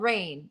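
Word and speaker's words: Reign: this but this one's called rain not like the rain from the sky but re e i g n did I spell that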